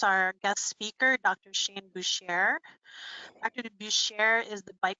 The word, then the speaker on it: Boucher: And just so that we're all on the same page, the way you pronounce my last name is Boucher. It's French. I know it looks weird. It says B-O-U-C-H-E-R, but it's French and you say Boucher.